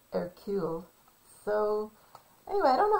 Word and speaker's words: Hercule: poirot uh you know it looks like hercules but he pronounces it and he's a detective he pronounces it air q so anyway i don't